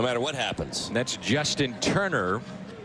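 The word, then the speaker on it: Toerner: right no no matter what happens that's Justin Turner spelled t o e n r but pronounced Turner and he was a 28th round selection in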